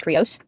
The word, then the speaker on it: Krios: So I went with the English pronunciation, which is Krios.